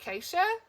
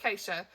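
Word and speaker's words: Geesje: characters is g-e-e-s-j-e and they say almost like so it sounds like keisha acacia kant acacia it almost sounds like keisha in the audio so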